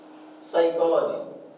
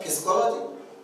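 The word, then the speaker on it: psychology: उच्चार तुम्हाला सांगतो आता सायकॉलॉजी सायकॉलॉजी असा उच्चार आहे याचा परंतु सुरुवात याची कशी नाही पी ने केली मग याला काय म्हणाल फिस्कोलॉजी नाही सायकॉलॉजीचा असाच उच्चार सांगावा लागतो आपल्याला स्पेलिंग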